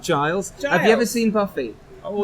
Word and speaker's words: Giles: yes welcome thank you in England we pronounce it Giles I've never seen Buffy